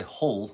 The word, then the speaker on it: Hull: that's what I'm saying we don't pronounce our hitches oh we say like we don't say Hull we say all oh thank you Karen